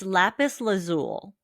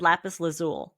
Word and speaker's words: lapis lazuli: I've never pronounced the I. I've always said lapis lazuli. I didn't even know I there was mean, an both are I.